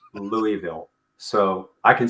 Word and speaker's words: Louisville: So I learned to say Louisville in school, but we were not allowed to pronounce that at the dinner table. So we were always corrected with, would you like to try that again? That's Louisville.